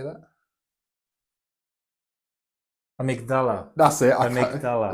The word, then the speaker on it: amygdala: Amygdala. It's like yes. a 17th That's the language. You can say it better than me. I'm a native British speaker. For some reason, I wanted to say amygdala or something like that.